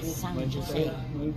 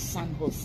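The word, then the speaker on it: San José: You don't say San Jose. The J is pronounced with H. It's San Jose.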